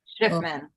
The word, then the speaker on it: Schiffman: How you pronounce the last name is Schiffman. Schiffman.